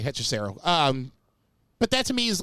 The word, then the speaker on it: Hechicero: I know, obviously they like Hechicero, but is it Hechicero? No, you said it right, Hechicero.